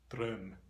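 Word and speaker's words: drøm: In Norwegian Bokmål, it's spelled D-R-O/M and it's pronounced Drum, Drum.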